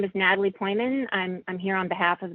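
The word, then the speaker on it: Pojman: And that's pronounced Poyman? Poyman, yes.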